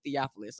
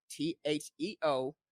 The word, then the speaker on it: Theophilus: Oh, I'm on all social media as Emmanuel Theophilus. I know it sounds hard to spell. I'm Spell it. breaking it down for you. It's TheoPhilus. Theophilus. So Like a Theo, philosopher? Phil, us. Yeah.